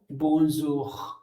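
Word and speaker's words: bonjour: यहां मैंने प्रोनाउंसिएशन भी लिखा आपको, बोंजूर। दो तरीके से बोंजूर भी बोल सकते हो, कोई बड़ी चीज नहीं है, बट कोशिश करो कि आप बेटर प्रोनाउंसिएशन कर सको।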